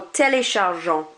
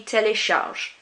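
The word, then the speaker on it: téléchargent: they, il or elle, you do not pronounce that ENT on the end. It's kind of like it isn't there. So instead of écoutant, it will be écoute. And instead of téléchargeant, it would be télécharge. It's like that ENT is not there. Do not pronounce it.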